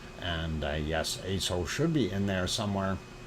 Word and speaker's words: Aso: And yes, Aso should be in there somewhere. Unfortunately, it is not. So let us move on. And yes, that is spelled ASO for those who are new. And it's Aso-san.